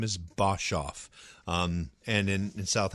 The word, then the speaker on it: Boshoff: his side and and my last name is bosov um and in in South Africa they pronounce it oh interesting so it's um